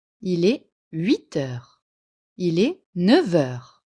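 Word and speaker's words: neuf heures: Il est 9h. Le F de 9 se prononce V à cause de la liaison.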